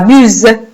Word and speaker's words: buse: Alors, là, vous avez la lettre S entre deux voyelles. Voilà pourquoi on entend le son Z. La buse.